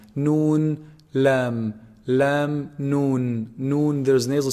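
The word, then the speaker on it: ن: Noon, noon is actually pronounced from the tip of the tongue when they hit. You see the upper incisors behind them a little bit. Noon, noon. It's below the lam articulation point.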